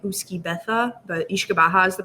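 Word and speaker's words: uisce beatha: It's kind of written similar to like Uski Betha, but Ishkabaha is the pronunciation.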